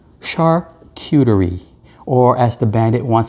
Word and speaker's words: charcuterie: how do you pronounce this thing see i pronounce it wrong i say chart cautery because i'm new yorker and